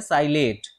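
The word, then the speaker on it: psilate: हो, उसको बोलते हैं साइलेट। क्या बोलेंगे उसको, साइलेट पॉलन ग्रेन। ठीक, साइलेट, पी साइलेंट रहेगा, पी साइलेट।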